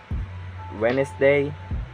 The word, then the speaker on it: Wednesday: So yeah, it can be silent too, like this example: Wednesday, sandwich, and handsome. You can, so like I'm not pronouncing like sandwich, it's sandwich.